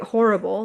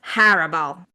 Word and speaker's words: horrible: I say horrible, like a whore and ibble, right? But apparently it's horrible.